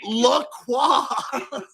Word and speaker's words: La Croix: La Croix. the first Hey, option. you're Canadian. You did pronounce it right.